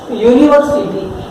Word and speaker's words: university: that the word university, the word starts with U, that is a vowel, but we can't write and university। हम यहाँ and university नहीं लिख सकते। Why? Because the word itself starts with a vowel sound, that is, consonant sound, that is U, university। What is that? University, and U is consonant।